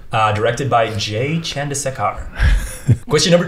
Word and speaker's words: Chandrasekhar: Jay Chandrasekhar. Chandrasekhar. Chandrasekhar. Yeah. I was going for the Preston Lacey pronunciation.